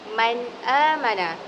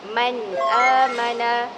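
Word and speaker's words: مَنْ آمَنَ: Bagaimanakah cara bacaan izhar halqi? Tidak boleh dengung dan haruslah jelas. Maka cara baca yang betul adalah man amana. Man amana. Dan tidak boleh dibacakan dengung seperti man amana. Man amana. Bacaan itu salah.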